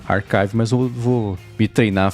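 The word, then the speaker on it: arXiv: pronunciava arive se lá o Manuel re disse que a comunidade científica pronuncia como Archive mesmo ah que essa inclusive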